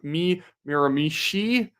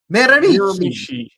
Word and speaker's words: Miramichi: Melanie Abulio says for $2.79, too much emphasis on second Miramichi. We're still at this. Miramichi. Oh, why you mispronounce Miramichi?